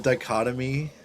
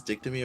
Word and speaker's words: dichotomy: That'll probably definitely be like the goofiest, like the dichotomy. However, is that the same word as dictomy, or I've just been saying it wrong?